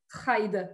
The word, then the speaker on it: Stride: Stride. Est-ce que je prononce bien ton nom de famille? Alors, en français, on va dire stride parce que c'est anglais et que tu sais que